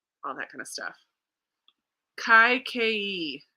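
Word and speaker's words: Kaikeyi: that kind of stuff kai ke is how you pronounce it okay kai ke it's a fantasy retelling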